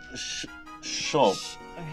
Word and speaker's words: shop: Alphabets that start with S-H is sh, sh, sh, sh, sh. As in shop.